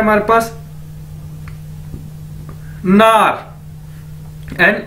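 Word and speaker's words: 哪儿: उसके बाद ये वर्ड है हमारे पास नार, एन ए आर, नार, नार मतलब क्या है, वेयर, कहां, ठीक है,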